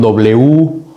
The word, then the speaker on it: Wasser: Wasser se escribe con W-A-S-S-E-R. Si ven otros videos del gracias por ver los otros videos, van a ver que la E con la R al final de una palabra se pronuncia como AR, Wasser.